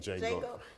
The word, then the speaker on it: Django: Django.